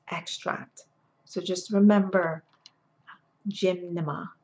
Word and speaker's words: gymnema: a leaf and it's extract so just remember gymnema it's pronounced and it's G Y and n e